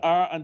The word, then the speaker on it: Ra: hyphens and put the R and the A together. And what would you have? You If are you put the R and the A together, how Ra. would you pronounce it?